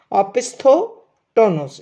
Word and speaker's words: opisthotonos: और इस रोग को बोलते हैं ओपिस्थोटोनोस, ठीक है, ओपिस्थोटोनोस, स्पेलिंग है OPISTHOTONOS, ओपिस्थोटोनस।